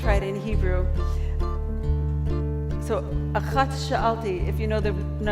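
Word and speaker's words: אחת: This has a T sound at the end, but achat sha'alti, just one request.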